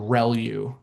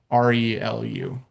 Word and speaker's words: ReLU: Um the the way you pronounce this is called relu. Um, so relu, re LU, usually how you'll hear that pronounced, relu.